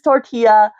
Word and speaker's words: tortilla: We know how they're pronounced. It's tortilla.